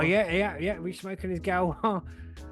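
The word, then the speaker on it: Gauloises: I can never pronounce it. Galwa. Galwa, yeah.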